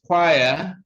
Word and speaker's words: choir: have is s sound number 12 is choir and so the initial consonants sound k w is